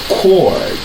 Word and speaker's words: chord: Nous avons un mot ça qui c'est chord. Chord. So we have CH. CH là, il est prononcé comme K. Même ensemble avec la lettre K, il est prononcé K.